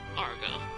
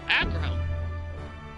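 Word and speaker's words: Agro: I kind of want to see the ones for Argo. Oh, Aggro. Oh. We've been saying his name wrong.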